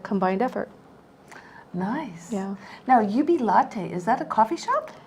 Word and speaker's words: Jubilate: that as a combined effort nice yeah now UB latte is that a coffee shop it almost sounds like it doesn't it it's actually spelled like jubilate but the Latin pronunciation is Ubi latte but oh I see you yeah latte yeah